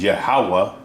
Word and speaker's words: Yahweh: But like you read up here, Yohahan, and right here it says Yod-Heh-Wah, which is Yahweh, Yahweh, in the proper pronunciation, because that's the name that they were